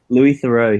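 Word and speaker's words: Louis Theroux: Louis Thorough.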